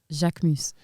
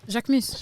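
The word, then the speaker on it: Jacquemus: How Jacques Mouse is pronounced, please. Jacques Mus. Jacques Mouse. Jacques Mouse. Jacques Mouse. Jacques Mouse. Jacques You Mouse. need some milk. God. Jacques Mouse. So how's it said? Jacques Mus. Jacques Moose.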